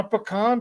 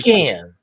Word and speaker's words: pecan: How do you say that word? Because we got some folks from Georgia in chat, and they yell at me. Pecan. There you go, pecan.